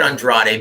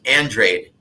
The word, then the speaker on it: Andrade: I said Andrade because, I only knew Librado Andrade at the time. And I called him Demetrius Andrade, and guess what? He goes, no. Brother, if you're gonna say my name in an interview, and this was on video, right? He goes, if you're gonna say my name on an interview, you better say it right. It's Andrade. So I'm sorry, as you were, brother.